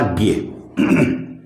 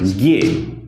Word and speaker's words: ज्ञ: यह वास्तव में क्या है, यह ज और ये के संयोग से बना है, इसलिए इसका उच्चारण होना चाहिए जे। इसका सही जो शुद्ध उच्चारण है वह क्या होगा, जे।